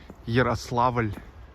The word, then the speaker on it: Yaroslavl: By the way, in Russian language, Yaroslavl pronounced as Yaroslavl. It's L with soft sign.